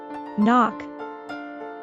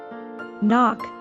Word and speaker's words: knock: they can Crush you note that the K at the beginning of knock is silent knock knock he knocks the wind